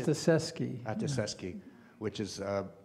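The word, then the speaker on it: Ostaseski: Ostaszewski.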